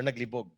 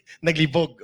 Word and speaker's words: naglibog: kasi ayaw niya Oo the accent should be faster naglibog not on the first syllable Okay naglibog Okay ang gusto naming